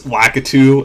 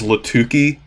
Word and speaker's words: Lakitu: one for some reason I used to call cryonis crynosis I don't know why I think it's kind of like how I used to pronounce lakitu as latuki even though it's not spelled that way okay foreign